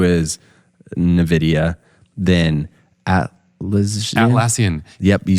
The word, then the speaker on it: NVIDIA: Then NVIDIA, is that how you say it?